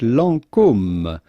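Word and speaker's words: Lancôme: call it in french lancome this means that you have to close your mouth when you pronounce the o of lancome then comes it'd be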